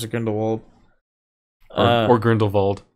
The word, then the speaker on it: Grindelwald: in the world or Grindelwald ran the bald as Dumbledore pronounces it and he's the only one who does he's the only one who pronounces it that way and the whole movie so